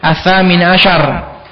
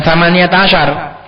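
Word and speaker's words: الثامن عشر: Thamaniyata ashar as-samin ashar, bacanya gitu, bitarikh as-samin ashar, jangan thamaniyata ashar, karena ini pada tanggal yang ke-18 gitu, bukan tanggal 18.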